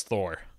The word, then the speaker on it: Þór: you're not gonna get it's Thor just pronounced for Hans Thor halt derson well that's the hep